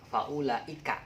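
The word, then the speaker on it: فأولئك: Oh iya, faulaika, Ibu Ika ya. Tapi kalau misalkan teman-teman punya friendly namanya Paul, nah boleh diingat-ingatnya Paul sama Paul. Tapi jangan dibacanya Paul, tapi faula.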